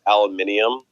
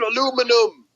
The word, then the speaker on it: aluminium: just gonna call it aluminium and then wait for him to be like you know you don't say it like that yeah right called aluminum you call it aluminum don't